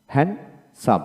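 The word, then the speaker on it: handsome: তারপর আসেন হ্যান্ড হ্যান্ডসাম আমরা হ্যান্ডসাম বলি ডি উচ্চারণ করি না হ্যান্ডসাম এখানে ডি উচ্চারণ হবে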